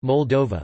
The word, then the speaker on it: Moldova: Moldavia, Romanian, Moldova, pronounced Moldova, listen, or Terra Moldovei in Romanian Latin alphabet,